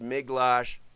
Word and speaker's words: Miglash: If you want to know how my name is pronounced, Miglash, I say it every day, so that helps.